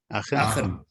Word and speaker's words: Aachen: Sorry, he goes on to say he won the intermediate once in Aachen, I think it's pronounced, Max? Aachen.